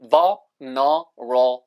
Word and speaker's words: vulnerable: 발음은 이렇게 덕이 빠지듯이 vulnerable 이렇게 발음하시면 돼요.